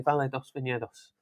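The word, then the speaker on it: Vale dos Vinhedos: Actually, I should just leave the pronunciation to you. No, I thought you did that very well. Actually, Valle dos Viñedos.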